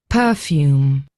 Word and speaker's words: perfume: So they have two ways of pronouncing it here. So let's have let's quickly listen to how they say it. Perfume. That's the the most common way I hear.